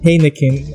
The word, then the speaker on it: Heineken: So I press T on my keyboard and I'm just going to spell out Heineken. So H-E-I-N-E-K-E-N. Heineken. A friend gets to tell me it's called Heineken. I get to pronounce that as Heineken.